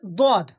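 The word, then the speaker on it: ض: দদ, দদের মাখরাজ হচ্ছে জিবের কিনারা, এই যে কিনারা, এই জিবের এই পাশ, এটা কিনারা বলা হয়, আর এইটা মাথা, এটা আগা বলা হয়, এই পাশে ওটা কিনারা।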